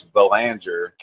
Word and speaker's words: Belanger: Yeah, so and I'm many people don't know, but it's Belanger is how you say the last name.